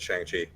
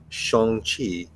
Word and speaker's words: Shang-Chi: on the same page it is pronounced shong chi and the legend of